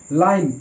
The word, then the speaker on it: line: একই রকম লাইন, LINE লাইন, এখানেও ই সাইলেন্ট আর আই এর উচ্চারণ আই এর মতোই হচ্ছে।